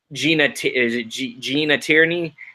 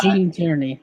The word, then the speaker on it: Gene Tierney: Gina Tierney. Yeah, Gene Tierney. That's the way I pronounce it.